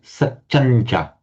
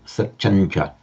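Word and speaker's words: satyañca: So the final nasal alters its position both in pronunciation and in writing for the following cha, satyancha. In fact, if you write it in this way with the nasal and cha, the subdotted m plus cha, it would still be pronounced satyancha. Both forms of writing are equally correct, but you'd always pronounce it satyancha.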